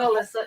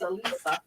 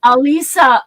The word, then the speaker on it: Elisa: We were pronouncing Elisa's name wrong. What? It's not Alyssa, it's Elisa. Alisa. Oh, Alisa, thank you.